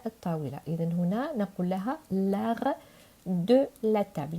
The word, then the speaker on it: l'art: إذن هنا نقول لها l'art de la table. إذن تي لا تنطق.